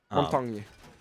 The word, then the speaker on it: Montaigne: real life French person told me how to pronounce Montaigne. Montaigne.